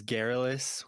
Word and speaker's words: Garrulous: to Yeah, so the way you pronounce it is Garrulous.